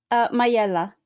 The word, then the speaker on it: Majella: So Stella is a graduate from the Conservatorio de Musica San Pietro la Majella. Did I say it right? Majella.